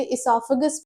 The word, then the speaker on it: esophagus: उससे पहले अगर मैं इसके प्रोनाउंसिएशन की बात करूं तो हम मोस्टली इसे इससोफेगस बोलते हैं। इसकी स्पेलिंग ओ से भी स्टार्ट होती है और नॉर्मल ई से भी स्टार्ट होती है। बस अमेरिकन इंग्लिश और ब्रिटिश इंग्लिश का फर्क है। वैसे ही प्रोनाउंस करने में भी हम इसे इसाफगस प्रोनाउंस करते हैं।